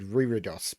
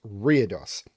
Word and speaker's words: Reredos: dos by FGM yes I had to look up the pronunciation of that one because I would have said ryridos but that is wrong it's weirdos um what have I